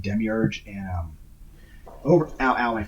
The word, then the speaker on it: Demiurge: depending on your pronouns i always pronounced it as die merge until i heard you know the pronunciation of demiurge and um over our